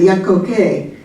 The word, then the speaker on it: Yakoke: Could you pronounce each of them? Sure. The Chickasaw is Yakoke.